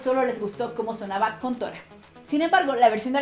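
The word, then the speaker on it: 魂斗羅: Contra se llama así porque los caracteres del kanji en el arcade japonés se pronuncian Kontora y por eso en América se llamó Contra.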